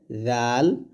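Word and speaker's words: ذال: এ মাখরাজগুলো যদি আপনারা না বুঝেন এই মাখরাজগুললা না বুঝলে কিন্তু আপনার উচ্চারণ সঠিক হবে না। জাল হবে জিহ্বাটা উপরে দাঁতের আগে লাগিয়ে জাল।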